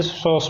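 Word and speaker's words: psoas: Diaphragm, ये भी diaphragm, ये सॉस मसल पी, हाँ पी पहले आता है लेकिन वो साइलेंट होता है, और फिर क्वाड्रेटस और फिर ट्रांसवर्स, ये तीन मसल हैं।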